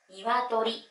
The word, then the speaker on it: 鶏: 音読みは「けい」、訓読みは「にわとり」です。